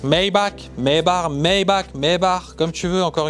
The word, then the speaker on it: Maybach: une Classe S Maybach maybar Mayback comme tu veux encore une fois sachez que Mercedes est une marque allemande et si tu vas sur Google Traduction et que tu demandes la prononciation c'est maybar une Porsche Panamera Turbo